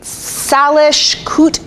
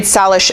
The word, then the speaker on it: Salish: Yes, she is Salish Kootenai.